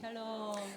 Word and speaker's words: 샬롬: 샬롬이라는 한번 따라합니다 샬롬 샬롬 발음을 잘 하셔야 돼요 잘못하면 욕인 줄 알아 살롬이들을 수가 있는데 죽일 놈보다 낫긴 하지만 그 뜻은 아니고요 단어